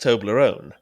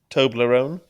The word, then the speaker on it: Toblerone: Emma says I mispronounced Toblerone. She says I put the emphasis in the wrong place. How would you say it again? Toblerone. Yeah, you are. You're putting the emphasis on the wrong syllable, mate.